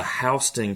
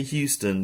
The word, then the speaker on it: Houston: and this is the hon County bears do not say Houston they will kick you out it's actually hon County not Houston it is spelled like Houston but they say Hon the Bears will be